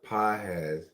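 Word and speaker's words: Pagés: Eddie Pages pronounced PZ.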